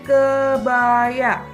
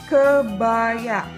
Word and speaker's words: kebaya: ini disebut dengan kebaya Coba sebutkan kebaya ke ke ke kebaya kebaya kebaya ini biasanya dipakai oleh